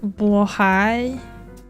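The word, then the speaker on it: Blåhaj: It's actually pronounced Blohai.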